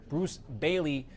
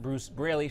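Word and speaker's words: Braley: event a while back she kept getting his name wrong over and over again calling him Bruce Bailey not Bruce brayy she of course corrected herself and came back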